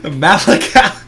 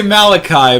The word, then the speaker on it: Malakal: That's Malakal. It makes me want to say Malachi, but that's not how it's spelled.